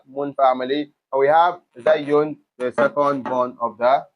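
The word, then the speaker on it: ز: So, and you can also pronounce it as Za.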